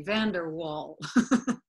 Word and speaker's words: van der Wal: drove all right see the Dutch way van der waals okay van der Waal like it's not like like America right it's like a wall will we say van